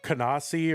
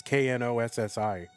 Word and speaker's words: Knossi: Yeah, Kanassi or whatever. I don't know how you say his name exactly. It's Knossi.